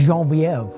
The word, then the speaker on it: Genevieve: It's Genevieve.